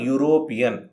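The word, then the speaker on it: European: next ಒಬ್ಬ ಯುರೋಪಿಯನ್ ಅ ಯುರೋಪಿಯನ್ ಇಲ್ಲಿ ಯುರೋಪಿಯನ್ ಈ ಅಕ್ಷರದಿಂದ ಶುರುವಾಗಿದೆ ಇದು ಸ್ವರ ಆ ಲೆಕ್ಕದಲ್ಲಿ ಆನ್ ಅನ್ನು ಬಳಸಬೇಕು ಅಲ್ವಾ ಅದು ತಪ್ಪು ಎ ಬಳಸಬೇಕು ಯಾಕಂದ್ರೆ ಸ್ವರದಿಂದ ಶುರುವಾದರೂ ಇದು ಧ್ವನಿ ವ್ಯಂಜನದ್ದು ಇದನ್ನು ನಾವು ಟ್ರಿಕ್ ಬಳಸಿ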